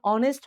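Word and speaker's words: honest: Letter तो है मेरे भाई कोसोनेंट लेकिन ऑनेस्ट इसका प्रोनाउंसिएशन ऑनेस्ट होगा। यानी कहीं ना कहीं अ से शुरू हो रहा है।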